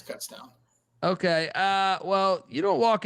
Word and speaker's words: Kutztown: We would say Coots as a joke, but no, it's Kutztown.